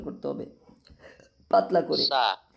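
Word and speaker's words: ث: সা সা শক্ত হবে না, সা।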